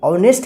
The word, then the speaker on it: honest: देखिए यहाँ पे ऑनेस्ट है ना, यहाँ पे H साइलेंट लेटर है, यहाँ पे H का उच्चारण नहीं हुआ है।